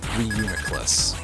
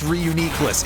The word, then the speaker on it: Reuniclus: Starting with Reuniclus. Actually, apparently this Pokemon's name is pronounced in a really silly way in the official sources. I believe I heard that it's pronounced Reuniclus, which is just Just no.